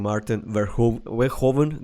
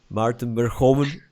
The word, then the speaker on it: Maarten Verhoeven: I really enjoyed the talk with you, Maarten Verhoeven. Did I pronounce it good? You did it in the English way, but yeah. Okay, let's try it one more time. Maarten Verhoeven. Yeah, close enough.